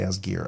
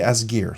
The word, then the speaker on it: Asgeir: asgar or ASG or I'm gonna say as gear I think that's the pronun pronunciation if it was German with the EI it would be ASG but I'll say as gear so this is called